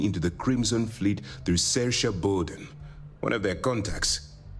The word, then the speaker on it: Saoirse: It's one of those names that's incredibly hard to pronounce based on the letters that are in it. And they're expecting us to read those names and go, oh yeah, that's Saoirse. What the hell? I wouldn't have pronounced it like that.